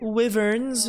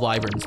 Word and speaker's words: Wyverns: Wyverns. Just kidding, they're called Wyverns. If you ever say Wyverns, you're saying it wrong.